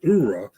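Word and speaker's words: Oorah: I think it was the way he pronounced Ura or Hura. Army says Hura, and Marines typically say Ura.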